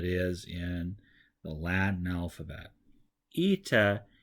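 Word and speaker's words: ήτα: in the Latin alphabet eita is one of the more confusing ones for English speakers because the capital letter looks like an H the lowercase letter looks like an N however this is a long e sound and you're gonna find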